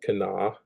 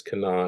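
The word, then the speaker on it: Kanawha: Charleston area and they they just call it Cana so it's Cana and it's named after the kenoi uh tribe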